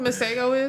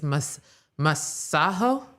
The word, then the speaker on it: Masego: So we have been pronouncing his name here in the good United States, Masego. Okay. Masego. It's Masego. Masego. Okay. I believe it was this week where he was performing and he basically was like, the Americans, they're so dumb, they've been pronouncing my name wrong. It's Masaho.